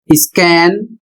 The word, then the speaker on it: scan: अगला शब्द SCORE, इसका उच्चारण स्कोर, अर्थ अंकों का हिसाब। अगला शब्द SCAN, स्कैन, और इसका अर्थ जांचना।